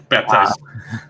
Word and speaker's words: Baptiste: So Michael Chu clarified that Baptiste pronounces the P in his name. Baptiste.